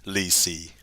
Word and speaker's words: lì xì: And I don't know what it is in Chinese, but in Vietnamese, it's pronounced lì xì.